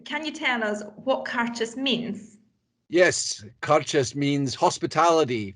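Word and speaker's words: Càirdeas: then the one I've got here and it's pronounced conscious exactly the way it's spelled CAIR d EAS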